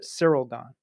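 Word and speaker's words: Ciryl Gane: Cyril Gane. But I feel like they pronounce the Y a little bit. It's all different. Well, it's he's French.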